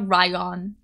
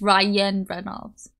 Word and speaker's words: Ryan Reynolds: ryion isn't it Ryan no it's not ryion it's Ryan Reynolds okay ryion got it